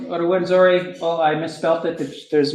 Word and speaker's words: Rwanda: And so the company that I used is called Rwanda. Oh, I misspelled it. There's no U. It used to be spelt with a U, and they took it away.